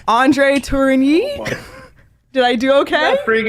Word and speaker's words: Tourigny: coach i'm gonna try my best with the pronunciation of your last name andre turini did i do okay pretty good okay yeah